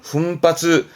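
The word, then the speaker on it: 奮発: 예, 발음은 훈바츠, 훈바츠스르, 분발하는.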